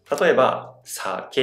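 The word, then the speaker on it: 鮭: In the High-Low pattern, it starts high, then the pitch lowers. SA➘ke (salmon).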